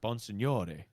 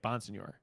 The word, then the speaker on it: Bonsignore: I mean it's pronounced Bonsignore, like Italian. Bonsignore. But I would say, but like my relatives, some of them say like Bonsignore.